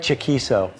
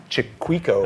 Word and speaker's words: Chaquico: we're gonna have some fun today uh Craig chaquiso I said it for you yeah I just found out that's how you pronounce his name yes I always over all